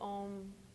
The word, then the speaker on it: Om: do some all own so ohm is is Sanskrit it's actually three syllables AUM with a focus on the M and it means absolute